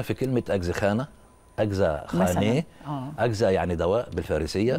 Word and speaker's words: خانه: بالمعنى المتواتر ا وخانه احنا بنقولها بالعميه خانه لكن هي كلمه فارسيه تركيه نطقها صحيح خاني يعني منزل او دار